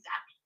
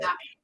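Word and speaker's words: Zappe: Zappi, I don't even know if that's how you say his name. Bailey Zappi looking better than Aaron Rodgers through 3 quarters. Bruce says it's Zapp.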